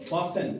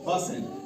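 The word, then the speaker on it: fasten: लिसन पासन एफ ए एस टी इ एन इ एन से पहले टी पासन ग्लिसन जी एल आई एस टी एन गिस्टन नहीं बल्कि ग्लिसन।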